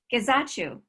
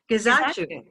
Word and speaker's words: Gizachu: Gizachu. There we go. Gizachu. Okay. That's not exactly how he said his name, but it's the way that sounded best to him.